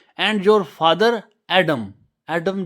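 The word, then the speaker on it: Adam: and your father एडमम एडमम जो हम हजरत आदम कहते हैं उसे इंग्लिश में एडमम के साथ प्रोनाउंस किया जाता है तो ए लोगों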